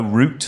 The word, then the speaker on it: Ruut: fantastic band called Duo Root. I think that's how it's pronounced. It's RUUT, and we were talking